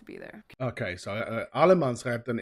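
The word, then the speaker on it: allemansrätten: you're allowed to be there okay so uh Alamance Captain it's all man's right basically that's how you pronounce it and that it basically mean that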